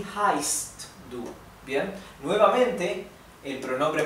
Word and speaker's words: heißt: La SZ se pronuncia como una S suave, ¿bien? Y también la SZ indica que la vocal anterior se pronuncia un poco más larga, así que es wie heißt du, ¿bien?